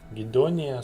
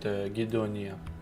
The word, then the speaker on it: Gedonia: Some people call it Gedonia, some people call it Gedonia, but I myself call it Gedonia.